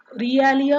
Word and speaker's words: realia: In education में क्या होता है ना, रियलिया बोलते हैं, रियलिया बोलते हैं. कैसे, I tell you हाउ इट is pronounce. री ए ली या.